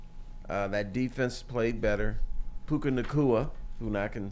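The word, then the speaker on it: Puka Nacua: happen someway somehow uh that defense played better puka nakua who I can say his name now he's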